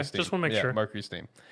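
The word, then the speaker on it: MercurySteam: Is it not Mercury Stream? Yeah. No, it's Steam.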